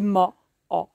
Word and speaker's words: Maâ: qui s'appelle moliet et ma a je dis ma a parce que ça s'écrit M a et puis a accent circonflexe c'est vrai je trouve